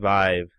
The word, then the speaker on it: Vive: Either way, it says on the HTC website in the video that they posted, it's a Vive. They pronounce Vive.